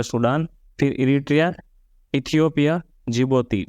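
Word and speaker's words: Djibouti: Sudan फिर Eritrea Ethiopia जिबोती डी से जिबोती जिबोती डी से इसलिए डी साइलेंट है डी जे आई एस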